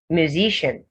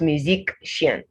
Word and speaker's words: musician: magic optic you don't now add the before saying this music musician not musician all right politics politician not politician mathematician technician pediatrician physician dietitian optician magician electrician so you don't have the and for the c i a n the c only has one sound there and that sound is